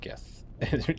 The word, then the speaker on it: Geth: It's pronounced Geth or Geth. Geth or Jeth. It's pronounced, yeah, Geth with 2 Fs. That's the canon pronunciation.